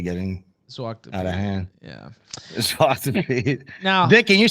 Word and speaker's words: Zwarte Piet: Zwarte Piet. I feel this is really getting out of hand. Yeah. Zwarte Piet.